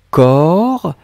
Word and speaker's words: corps: Pas du tout, Sundar. Le premier que vous avez écrit, corps, CORPS. Un corps. Or, corps. Le deuxième, un cœur. Un cœur.